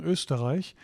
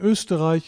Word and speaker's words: Österreich: And Österreich is the German word for Austria. Österreich. Okay. It's not pronounced A, it's pronounced I.